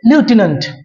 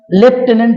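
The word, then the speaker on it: lieutenant: দুই নম্বরে যে স্পেলিংটি লেখা আছে এটির অরিজিনাল উচ্চারণ করতে গেলে লিউটেনেন্ট কিন্তু আমরা সাধারণত বাঙালিরা এর উচ্চারণটা লেফটেনেন্ট হিসেবেই জানি ইংরেজদের মত প্রকৃত উচ্চারণ আমরা হয়তো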